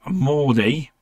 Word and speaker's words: Mordie: to correct me if I'm wrong I have Morty from game slush pie now did I say that correctly so people can actually pronounce it oh yeah yeah because I was